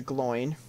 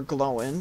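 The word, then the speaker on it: Glóin: First, I gotta go give this to Gloin. Or Gloin, depending on how you want to pronounce it, but in this game they pronounce it Gloin. Bilbo. In the animated version they said Gloin.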